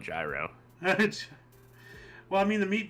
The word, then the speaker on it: gyro: you pronounce it wrong is it like gyro or something it's like apparently it's Giro but I call it gyro well I mean the